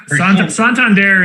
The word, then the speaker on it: Santander: last night's games and they were saying santander santander and i think they settled on santander yes santander is the way that uh i guess you're supposed to say it yeah reed's like santander